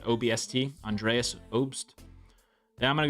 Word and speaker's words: Obst: We're going to take the under assists at 1.5 for Andreas Obst. I'm going to say you pronounce it OBST.